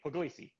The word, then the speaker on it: Pugliese: good it's good robert there's actually no there's no right way to say my name in english because it's an italian state called puglia so my name is but i tell everybody puglisi okay the way you